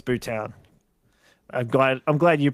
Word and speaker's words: Bhutan: Oh, um, Bhutan. Correct. It's Bhutan. I'm glad I'm glad you pronounced it that way because now I can.